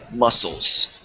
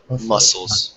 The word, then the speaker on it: muscles: and uh with muscle the C is silent muscles muscles muscles okay muscles and